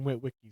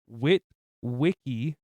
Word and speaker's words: Witwicky: And Sam Witwicky, because they say his last name like Wiki. They say Will Wiki or Wiki, or they say it wrong 5 different times.